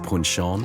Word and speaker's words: Punchon: Well, this is Punchin. It's pronounced Punchon.